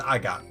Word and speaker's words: Agate: Now I've heard his name pronounced various ways. Agate, Agate. His name in the Japanese version is Agato. So I'm going to go with Agate. That just makes sense to me.